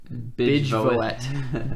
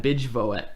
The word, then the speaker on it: Bijvoet: If I pronounced it like my mother would, it would be Bijvoet. Bijvoet. Bijvoet.